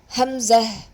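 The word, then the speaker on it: همزة: Hamza. Hamza. See, the hamza explanation is after the za there is a ta marbuta, but we while stopping pronounce it as the ha with the sukun.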